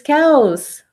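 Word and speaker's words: caos: says Kaos of course the way Kaos is pronounced in Spanish is cows and in English cows are those animals that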